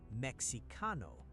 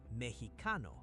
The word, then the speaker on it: mexicano: And Mexicano is not Mexicano. Say Mexicano.